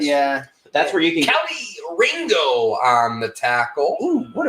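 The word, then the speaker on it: Kelee Ringo: verb I guess yeah that's where you can Kelly Ringo on the tackle oh what a football name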